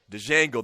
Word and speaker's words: Django: Chuck Down Frank, Django, the D is silent, white boy.